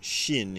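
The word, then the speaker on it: 心: And the bottom one would be pronounced kokuro, or sometimes shin in Japanese, and that means heart or mind.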